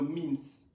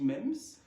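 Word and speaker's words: meme: en lui transmettant nos MIMS. On dit les MIMS en anglais, en français je pense qu'on dit MEMS, mais je vais conserver la prononciation anglaise, donc MIMS.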